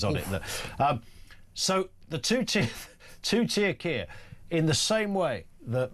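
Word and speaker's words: Keir: So Kia rhymes with two-tier, and it rhymes with free gear, and it rhymes with a load of other stuff.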